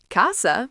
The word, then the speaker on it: casa: Casa, phát âm là KAH-sah, nghĩa là nhà.